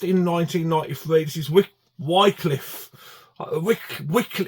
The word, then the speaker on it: Wycliffe: Wycliffe. It depends how you say it. You say Wycliffe or Wycliffe. I always say Wycliffe.